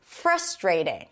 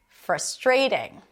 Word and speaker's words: frustrating: to be pronounced as frustrating. Stress is on the first syllable. Frustrating. That's how I say it. It's so frustrating. In the UK, you'll hear frustrating. Frustrating.